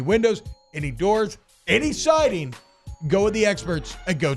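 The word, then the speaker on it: Geaux: Go is spelled G-E-A-U-X.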